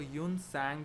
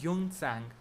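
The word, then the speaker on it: Xuanzang: Important traveller हैं जिनको यून सैंग भी बोलते हैं। अलग अलग प्रोनाउंसिएशन है इस नाम की, पर जो मुझे पता है उसमें इसको बोलते हैं यून सैंग।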